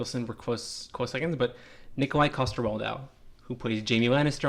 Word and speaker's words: Nikolaj: Nikolai Coster-Waldau. Yeah, Nikolai. Let's just say Nikolai. Nikolaj, technically.